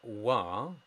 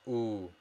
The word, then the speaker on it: و: That wa is always pronounced u, very subtle. So when we speak quite fast, we don't give it the full extent in terms of pronunciation. We just go very subtle and wa becomes u within a speech.